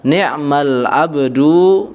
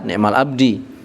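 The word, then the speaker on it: نِعْمَ العَبْدُ: Maka bacanya adalah ni'mal abdu Muhammadun. Ni'ma al-abdu Muhammadun. Ya, atau Muhammadun ni'mal abdu. Jangan dibaca ni'mal abdi.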